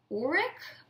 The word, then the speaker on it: Urich: You know, her scenes with Curtis-Hall, who I talked about in the beginning, who plays Ben Urich, I think is how it's pronounced, because he's race swapped.